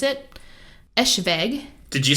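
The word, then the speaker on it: Eschwege: I looked it up how to pronounce it. Eschweg.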